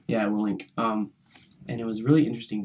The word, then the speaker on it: Willink: Yeah, Willink.